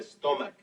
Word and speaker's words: stomach: Because the CH at the end of stomach is pronounced like a K.